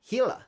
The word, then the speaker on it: Gila: Ah, Gila or Gia, depending on how you pronounce it. Gila. Gila. Yeah. Gila. Hila.